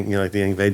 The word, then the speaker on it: Yngwie: I know you like the Yngwie J Mom stream.